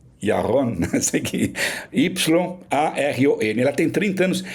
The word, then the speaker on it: Yaron: A minha pronúncia em hebraico está ruim. Yaron, Yaron, Y-A-R-O-N.